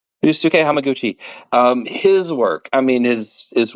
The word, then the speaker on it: Ryusuke Hamaguchi: name, but I want to make sure I'm pronouncing it correctly because I want to be respectful. Ryusuke Hamaguchi. Yusuke Hamaguchi, his work, I mean, is wonderful.